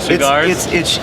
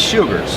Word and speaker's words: Sugars: And then your next one is the Mexican San Andreas wrapper, Senor Sugars. How do you say it? Cigars? It's Sugars.